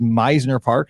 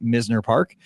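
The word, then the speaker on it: Mizner: In Boca, you'll find Meisner Park, pronounced Meisner Park, not Misner Park.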